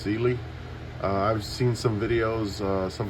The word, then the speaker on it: Cyelee: It is pronounced Cyelee.